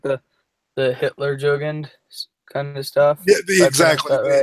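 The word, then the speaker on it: Hitlerjugend: Oh, like the Hitler Jugend kind of stuff. Yeah, exactly. Right? Yeah, it's Hitler Jugend. You're right, exactly. Yeah. Hitler I pronounced it wrong. Yeah, it's Hitler Jugend.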